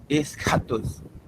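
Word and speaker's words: ἔσχατος: Ok, eu acho que é escatos. Pronto. Só ressalte, enfatize bem a sílaba tônica. A sílaba tônica é onde está o acento.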